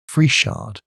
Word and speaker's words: Friesshardt: 2 of his bodyguard, Frieshard. I should think you would be safe in pronouncing this Fries hard. But you had better ask somebody who knows, and Leuthold, to keep